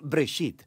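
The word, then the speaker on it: בראשית: génesis génesis viene de una palabra hebrea se pronuncia break sit simplemente significa principio hay muchas historias en el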